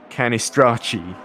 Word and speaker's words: Canistracci: Stocci equals Stokey, and Canistracci equals Canistracci.